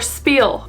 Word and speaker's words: spiel: See how this is pronounced. Okay, Google. Spiel or Spiel?